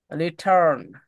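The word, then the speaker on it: return: সমস্যা ব্রিটিশরা আর উচ্চারণ করে না। আর আমেরিকানরা হচ্ছে আর এর উচ্চারণ করে।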